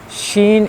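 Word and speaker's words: ش: Next one is shin. So as you know, shin is also like shin, like gym.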